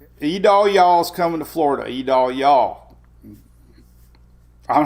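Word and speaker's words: Idalia: The National Hurricane Center name pronunciation chart. E-Dal-Yaw. E-Dal-Yaw.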